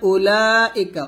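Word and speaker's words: أولئك: আলা হুদাম মির রব্বিহিম তাহলে এখানে উলাইকা উলাতে আমরা চার আলিফ টান দিব উলাইকা এর অর্থ হচ্ছে তারাই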